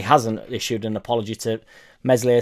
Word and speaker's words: Meslier: issued an apology to meslier silent s and there's a strong